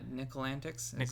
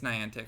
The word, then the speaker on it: Niantic: Uh, nickel antics because Ni Niantic, I think of the periodic table as the Ni and then antic. So, Nickel Antic, but it's Niantic.